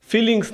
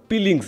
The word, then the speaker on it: Peelings: ফিলিংস না পিলিংস ভাই, পিলিংস উচ্চারণে ভুল, পিলিংস।